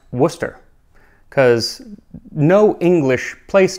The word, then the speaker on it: Worcester: Worcester is pronounced Worcester, because no English place name ever sounds the way that it's written.